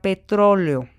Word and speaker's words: petróleo: la palabra petro leo si yo no identificó que en la palabra petróleo hay un hiato entre la última y la penúltima sílaba la separación silábica la voy a hacer mal y entonces voy a pensar que petróleo es una palabra grave en lugar de brújula